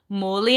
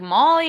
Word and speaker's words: Moli: And so their names are pronounced Moli and Gote. Right? Okay. That one's the worst one. And you know what's really funny is that at our competitions, they're always saying like Molly and Goat or something like that.